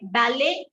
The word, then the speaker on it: ballet: So what do you notice in this? We are not pronouncing your T. You get it? We are not pronouncing the T.